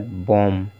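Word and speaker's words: bomb: को नहीं पढ़ना है इसलिए बी यहां पर साइलेंट है लैम हो गया ठीक इसी तरह से लैम हो गया इसके बाद बम बम भी इसी तरह से पढ़ा जाए कॉम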